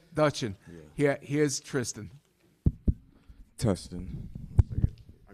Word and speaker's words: Duchin: it says, to me, I would pronounce it Duchin, or is it Dutchin? D-U-C-H-I-N. Moi, je dis Tristan Duchamp, but let him say it the correct way. Dutchin. Once again, Dutchin.